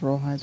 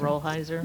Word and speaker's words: Rolheiser: I think it's pronounced Rollheiser. Rolheiser.